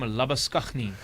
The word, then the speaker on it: Labuschagne: So now into the side will come Marnus Labuschagne, or if you want to be very correct, you pronounce his surname Labuschagne.